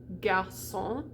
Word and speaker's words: garçon: a word like garçon, that little hook tells us that the C is going to be pronounced differently from how we usually would if it didn't have that. So when you see that C, you're going to pronounce it as an S always.